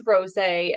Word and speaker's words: Rosé: You're pronouncing her name wrong all this time, and it is Rosé, and she just doesn't have the heart to tell you.